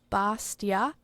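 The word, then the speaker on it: bestia: So Latin would be more of a bastia kind of a sound.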